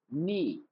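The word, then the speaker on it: kneel: नी नी means क्या होता है? घुटनों के बल बैठना। नी यहां पे के साइलेंट है।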